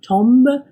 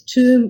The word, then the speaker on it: tomb: the pronunciation of Tomb it's not tomb but it's tomb with a silent B like in bomb and you would say